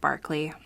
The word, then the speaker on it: Berkeley: their governor governor William Barkley spelled Berkeley but pronounced Barkley I don't know why